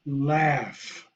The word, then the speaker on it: laugh: The word laugh is spelled L-A-U-G-H. You do not pronounce letter per letter because it would sound impossible. But the phonogram is L-A-U-G-H. The A-U is pronounced as A, and the G-H is pronounced as F.